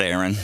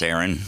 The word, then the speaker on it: Aeron: my name is Aaron it's not Aaron not Aaron it's Aaron it's AE r o n so it's like Aeronautics so remember that because Aaron